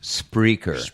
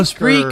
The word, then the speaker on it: Spreaker: it's pronounced Spreaker. Oh, Spreaker.